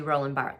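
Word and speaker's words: Roland Barthes: theorists of narrative theory is a guy named roland bart his name is spelled bart's but it's actually roland bart that's how you pronounce it and he writes narrative is an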